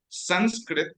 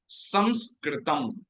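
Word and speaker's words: संस्कृतम्: It's Sanskrit, but the correct pronunciation is not Sanskrit. It is Samskritam. Samskritam. So there is an anuswara there above the sakara, and we pronounce it is a nasal sound.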